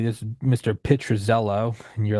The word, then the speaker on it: Pitruzzello: Pitruzzello.